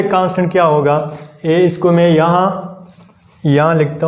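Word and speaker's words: μ: इसको हम क्या करते हैं, म्यू से, यानी इसका जो प्रोनाउंसिएशन है वो है म्यू।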